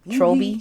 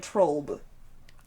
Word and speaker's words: Trolby: People are gonna read that name and they're gonna be like Trob. You're gonna have to still correct the pronunciation. Trolby.